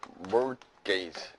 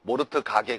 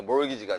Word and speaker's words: mortgage: 이건 뭐냐면 mortgage. T가 묵음이에요. T가. 알겠죠? 모르트 가게 그러지 말고, 알겠어요, 여러분? 그래서 이게 몰기지가 되는 겁니다.